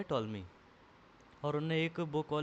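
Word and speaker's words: Ptolemy: मैप बनाया था और टॉलमी थे जो पीस का साइलेंट रहता था उसको टॉलमी पढ़ते हैं टॉलमी थे जो कि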